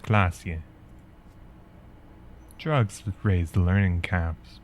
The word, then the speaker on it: Klasje: Klasje is pronounced Klasje.